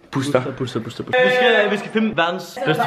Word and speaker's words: Booster: Udtal det med et U. Booster.